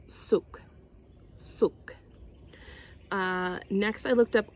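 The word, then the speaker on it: soek: This is how it's spelled, but it said they say it souk.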